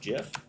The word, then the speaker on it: GIF: Jif. Or is it gif? I've always pronounced it gif, which is how the creator wanted to pronounce it, how he does pronounce it.